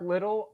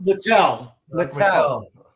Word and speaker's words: Littell: Going back to Mark Little, am I pronouncing that right? Mark Littell? Littell. Mark Littell, thank you.